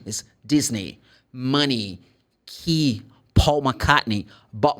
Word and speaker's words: Disney: they're going to go like a where no Disney the E sounds like e is Disney money ke Paul mne but Marley no le